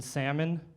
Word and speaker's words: salmon: and I found out she pronounces the L in salmon right ooh ooh what